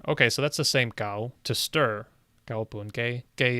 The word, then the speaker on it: 搞: Is the narrator saying gao or ga? 我搞下個煲， Yeah, they're saying ga, but it looks like here the pronunciation is gao.